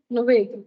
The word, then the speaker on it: Nuwaid: Spell பண்ணி NUW M no miss N NUWAID அப்புறம் W how do you pronounce this? Nuvaid. Nuved.